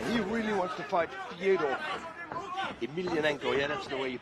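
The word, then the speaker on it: Fedor Emelianenko: Yeah, he really wants to fight Fyodor Emelianenko. Yeah, that's the way you pronounce it.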